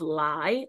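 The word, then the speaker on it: lae: But I think that's a misspelling of lie, L-A-E.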